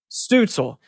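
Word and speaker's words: Stützle: I've never pronounced his name correct, but he is very talented. Stutzel.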